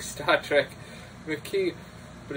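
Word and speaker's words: Makee: Covenant and the McKee, sounds like Star Trek, McKee, but it's spelled differently, there's no Q in it, it's M-A-K-E-E, are determined to steal.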